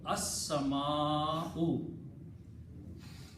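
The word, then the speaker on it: السماء: And in the pronunciation, Seen will be pronounced twice, As. Lam will not be pronounced. So it will become as-sama'u.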